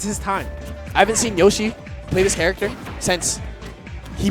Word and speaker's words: YOC: This is pronounced Yoshi.